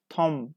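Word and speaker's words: tomb: Okay, yes, B, Tom. We pronounce M, but we don't pronounce B.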